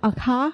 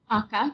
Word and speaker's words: Akha: The Tea Girl of Hummingbird Lane, best title ever, begins with, is it Akha? How do you pronounce that? Akka, yeah, you have it exactly right.